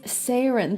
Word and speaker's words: 4RIN: name is barely legible how do you say this does everyone know now does everyone know say your name that's right it is sarin the the the that symbol that funky math s symbol at the end remember